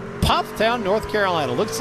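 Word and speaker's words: Pfafftown: Pufftown. Pufftown, North Carolina. Looks like the fast is pronounced Puff.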